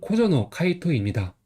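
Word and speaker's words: 小園海斗: 19번은 코조노 카이토입니다. 한자는 작을소, 동사원, 바다해, 말두입니다. 그래서 작을소 같은 경우는 여기선 코 이렇게 있는데 오라고 읽는 경우도 있어요.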